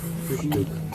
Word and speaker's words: Frühstück: フクソ This pronunciation is like kissing. Kiss to someone. Yeah, you have to round your lips. Frühstück.